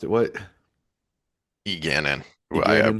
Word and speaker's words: Egeanin: Eganin. I Egeanin. put the emphasis on the A or the E, the A, and it's supposed to be on the second syllable, the second vowel, the anin. So Egeanin.